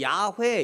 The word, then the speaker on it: 야훼: 이게 히브리어로는 야훼 이렇게 읽어요. 순복음에서 야훼라고 읽죠. 순복음교회에서는 야훼. 원래 그게 잘하는 거예요. 그렇게 해야 돼요. 근데 꼭 우리는 순복음교회에서 하면 괜히 우리 장로교는 안 해야 되고 막 이상한 그런 게들이 있어요. 그 해야 돼요. 저것도 원래는 야훼 이렇게, 우리는 여호와 하나님 이러잖아요. 야훼 하나님 이렇게 읽는 게 이게 맞는 말이에요.